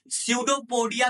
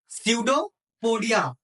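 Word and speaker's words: pseudopodia: सडोपोडिया भी बोलते हैं। क्या बोलते हैं? सडोपोडिया। ठीक है? इसकी स्पेलिंग होती है पी एस ई यू डी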